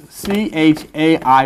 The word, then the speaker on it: chai: And you put them together, 18 equals C-H-A-I, pronounced chai, which is life.